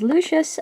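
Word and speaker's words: Lucs: first up here is lucious uh his name is based on the Latin word for light uh his name is spelled l u c s so it's a bit weird but um that is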